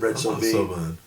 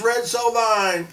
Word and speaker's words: Red Sovine: And I said Red Soine. So maybe and I maybe I said Red Sine. And like the next week they got like 30 people saying your DJ doesn't even know how to pronounce Red Sovine.